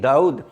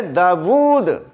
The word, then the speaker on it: داود: Number 14 دیکھیں داؤد، اکثر لوگ اس کے انگلش میں اسپیلنگ لکھتے ہیں DAUD، داؤد۔ نو، یہ جو واو ہے یہ سائلنٹ نہیں ہے، یہ متحرک ہے، اور اصل لفظ ہے داود، DAWOOD۔ WOD داود، اور اس کے اوپر